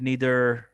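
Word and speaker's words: neither: Whatever, you know, like, नीदर। अच्छा, ये जो प्रोनाउंसिएशन है इसकी दो तरह की है, एक नाइदर कहते हैं, एक नीदर कहते हैं।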